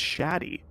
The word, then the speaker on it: Shadi: I believe it's Shadi, actually. Oh, Shadi.